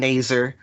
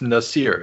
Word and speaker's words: Nasir: his name of course most people call him nazer but that is not actually how you would pronounce it no it's nasir isn't it yes necessary